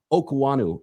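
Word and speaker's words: Okuayinonu: If you try to read it, it's not going to be correct for your brain. So Sam Okanu is how you pronounce it.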